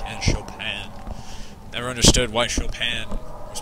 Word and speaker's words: Chopin: by both offenbach and chopin never understood why chopin was pronounced chopin because it's spelt chopin this is